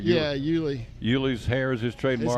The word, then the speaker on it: Yuli: Yeah, Yuli.